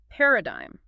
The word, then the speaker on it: paradigm: Starting with a fundamental framework word, paradigm. a typical example or pattern of something. The key here is the silent G. It is pronounced pa rad keeping the G silent just like in designer rain.